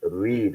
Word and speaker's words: read: of the word so in the present it is read or in the base form it is read and in the v2 it is red the spelling is ready